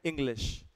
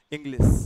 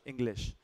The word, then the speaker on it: English: आप इस ध्यान दीजिएगा जैसे हमारा जो शब्द है अंग्रेजी का उसको बोलते हैं इंग्लिश इंग्लिश एंड I hear people से एट टाइम्स इंग्लिश तो आप इसम ध्यान दीजिएगा ये होता है श इंग्लिश और इसी प्रकार से शिप